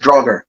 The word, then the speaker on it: Draugr: Is it right pronounced? Draugr? Yes, Draugr.